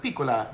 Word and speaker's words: piccola: secrets of Tony mores piccola sounds like Pecola in Italian which means little Reed I think you're